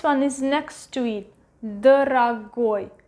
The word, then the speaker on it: дорогой: And the last one, дорогой, дорогой, дорогой. Again, the stress is going to the last syllable. This one is next to it. Дорогой is pronounced as A, дорогой.